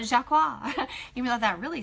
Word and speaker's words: JAQUA: We pronounce it JAQUA, J-A-Q-U-A, JAQUA. So not JAQUA, even though that really sounds cool. It's not French, so it's just JAQUA.